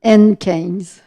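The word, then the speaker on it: Haentjens: par la suite, Brigitte Henschken, je le prononce comme il faut. Elle le prononce comme, elle me dit de dire son nom comme au bingo, N15.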